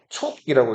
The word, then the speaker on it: 촉: 자, 어, 여기 보시면은 슈라고 돼 있죠? 촉이라고 읽어요.